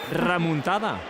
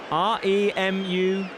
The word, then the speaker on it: remuntada: Remontada. Remuntada. Remontada. You had to think about that I one, had to didn't think you? about it. Yeah. Yeah, because in Spanish it's with an O.